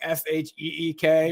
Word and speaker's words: chic: Chic was like SHEEK or something, like something.